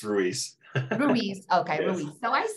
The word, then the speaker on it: Ruiz: okay I hear it all different ways it's Ruiz Ruiz okay so I said it right okay